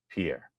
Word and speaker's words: Jean-Pierre: a karer that's the correct Haitian pronunciation Pier Peter Ducey asked her about the economy because